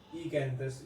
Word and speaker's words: Oecanthus: अगर हम क्लासिफिकेशन को देखें तो ईकैंथस, यहाँ पर ओ जो है ओ आता है स्टार्टिंग में, लेकिन ओ शायद से साइलेंट होगा तो ईकैंथस इसको प्रोनाउंस किया जाता है।